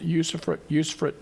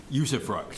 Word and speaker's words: usufruct: The use of a tool, an economic development abatement tool, usufruct. usufruct.